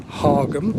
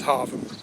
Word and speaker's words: Hargham: now i know in the title it says hargam or hargham trust me the local pronunciation is harvard i fell into that book a few times